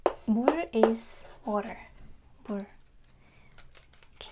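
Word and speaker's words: 물: Mul. Mul is water. Mul.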